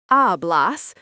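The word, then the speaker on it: hablas: Ablas pronounced ablas means you speak.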